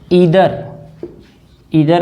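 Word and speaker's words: either: Distributive pronounce में each आता है, ईदर आता है जिसको हम लोग आइदर भी बोलते हैं, नीदर आता है, नीदर जिसको नाइदर भी बोल सकते हैं, और एक नन भी है।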